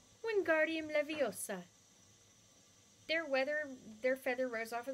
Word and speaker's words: Wingardium Leviosa: Wingardium Leviosa, he shouted, waving his arms around like a windmill. You're saying it wrong, Harry heard Hermione say. It's Wingardium Leviosa. Make the gar nice and long.